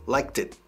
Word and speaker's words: liked: La D final de liked adquiere pronunciación de T, letra T, y se enlaza totalmente a it.